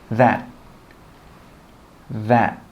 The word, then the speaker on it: that: We don't say 'thaT.' We stop the air from coming out and we say 'that, that.'